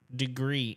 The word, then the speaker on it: Degrii: is the degree thermostat it's spelled D e g r i i right but it's degree and one of the